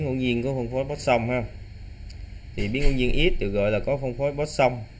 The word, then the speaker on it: Poisson: Thì cái chữ này mình đọc theo tiếng Việt là Poisson nha các. Đọc là Poisson.